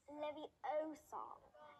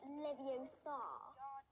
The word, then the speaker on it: Leviosa: someone's eye out besides you're saying it wrong it's levi oh song not livio you do it and